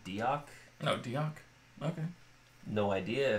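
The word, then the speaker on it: Deoch: So he goes back a couple of days later, and in the book, in the audiobook, they pronounce it Diok.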